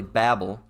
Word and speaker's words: Babel: subject it's being talked of but it's really Babel if you want to pronounce it correctly says a confused noise made